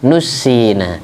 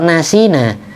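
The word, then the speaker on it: نُسِّينَا: membikin lupa yaitu Allah makanya bacanya Yang benar minhuma nushina kalau Nasina saya lupa lupa sendiri apa ada yang melupakan Iya ada yang melupakan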